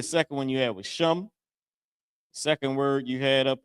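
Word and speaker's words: שם: I forget the other one but sham. Sham is how you say name in Hebrew.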